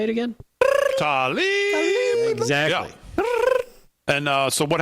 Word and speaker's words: Tlaib: Tlaib.